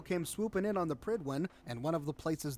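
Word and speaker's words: Prydwen: no one noticed why' he call it the pridwin I thought that's how it's pronounced in game is it oh my God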